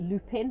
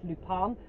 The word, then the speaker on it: Lupin: the second series of i call it lupin but i think it's lupon or somebody i'm sure that speaks french will correct me so it's spelt like the flower looping i think it was